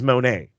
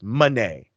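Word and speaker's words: Moné: saying her name wrong it is not Mercedes Monet it is Mercedes Monet okay so the inflection goes on the E not on the oh got it exactly Monet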